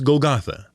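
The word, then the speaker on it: Golgotha: it was called goet the Greek pronunciation is golgatha and why all the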